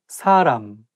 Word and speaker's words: 사람: 사람, person. But it should be a little bit softer S sound and say 사람, 사람. So it shouldn't be 사람.